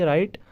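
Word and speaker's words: write: राइट में है क्योंकि अगर आप प्रोनाउंस करोगे तो RITE से ही राइट बन जाता है, मगर W उसमें साइलेंट है, तो ये वाला भी आ जाएगा।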